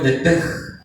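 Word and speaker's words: נפש: Comenzando de que la palabra alma en el original es la palabra nepej, o se escribe nepesh, se pronuncia en el hebreo nepej, que es el asiento de las emociones, de los sentimientos, en donde está la voluntad del ser humano.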